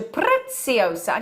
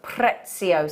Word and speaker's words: Preciosa: much beautiful introduction to Preciosa can I just confirm - it is pret CEO so not Preciosa we got told that